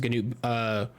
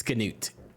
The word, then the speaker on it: Canute: Which, have you seen how his name is spelled? It's like Gnaut, right? No, bro. It's Canut. Yuck. It's Canute. Canute, but Canute. That's Canute. Those letters don't make any sense.